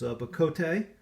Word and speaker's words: bocote: Etsy shop these I have handmade scales from bakoto wood or but coat this is an exotic hardwood from Central America mainly Mexico I believe and so the Spanish pronunciation is BA Cote and it's again it's just an exotic card